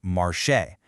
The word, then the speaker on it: marcher: In its full infinitive form, it's pronounced marcher.